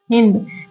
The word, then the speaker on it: हिंद: नदी सिंध नदी है तो ये फारसी लोग अपनी इस भाषा में सिंध नदी को हिंद बोलते थे क्या बोलते थे हिंद मतलब इनका जो फारसी भाषा का जो ये फारसी लोग जो अपना उच्चारण करते थे स को लोग क्या कहते थे हा कर देते थे क्या